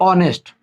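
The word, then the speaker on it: honest: इसको पढ़ते हैं, देखो ओ के पहले छाना मत पढ़ो, इसको पढ़ो ऑनेस्ट, फिर यहाँ पे इसको पढ़ो ऑनर, ठीक है।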